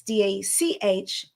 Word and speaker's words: Dachinger: And the last name's Austrian, so it's Dachinger.